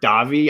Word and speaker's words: Davi: and 90s don't give enough love to robert davi i don't know how to say his last